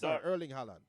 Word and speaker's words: Erling Haaland: Erling Haaland.